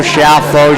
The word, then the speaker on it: Schiaffo: I know, it's got a lot of weird vowels and things, and some people say Schiaffo, Schiaffo, Schiaffo, Schiaffo. It all works.